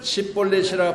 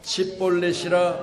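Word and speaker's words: שִׁבֹּלֶת: 그에게 이르기를 십볼렛이라 발음하라 하여 에브라임 사람이 그렇게 바로 말하지 못하고 치볼렛이라 발음하면 길라 사람이 곧 그를 잡아서 요단강 나루에서 죽였더라.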